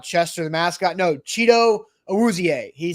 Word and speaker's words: Awuzie: So I'm rolling with Awuzie, even though like the Titans pronunciation guide kind of made it look like Awuzie. He said Awuzie.